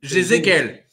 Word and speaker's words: Jézéquel: Est-ce que je prononce bien Jézéquel, rappelle-moi. Jézéquel.